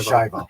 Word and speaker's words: Schiavo: That must have been fascinating, where you served as a forensics consultant on the Terry Schiavo, oh my gosh, pronounce that for me. Terry Schiavo.